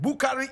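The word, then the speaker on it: Boukary: born wabu he was born bukari koutu and bukari is spelled b o u k a r y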